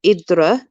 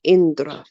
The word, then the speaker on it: Indra: god idra indra oh now there's two ways of pronouncing this and i think it's from different parts we have idra or indra i pronounce it indra found she found it